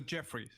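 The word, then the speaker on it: Djeffry: books and such that Jeffrey with a DJ e FF r y it's pronounced the Jeffrey he he brought you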